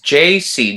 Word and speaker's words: Yeisi: i said is it jay z z what is it brother it's jc just like if you're pronouncing the letters j and the letter c because it comes from